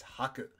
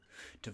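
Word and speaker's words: 吐: That's haku. To vomit, emit, express, or confess something. It's kind of a giving motion. The other way to pronounce this word is to, and it means spit, vomit, belch, or to confess.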